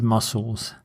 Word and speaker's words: mussels: And don't confuse it with these mussels. Mussels are a type of delicious shellfish, and the pronunciation is exactly the same as muscles.